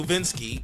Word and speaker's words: Nowitzki: got Derrick Rose guarding Dirk Nowitzki no Vince key whichever you want to pronounce it Dirk and it's like